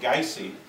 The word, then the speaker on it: Gysi: no I'd say well my dad pronounced it guys and my mom pronounced it geissy sauce kids kind of